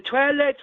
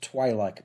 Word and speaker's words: Twi'lek: I think it's pronounced Twi'lek, by the way. Okay, Twi'lek then.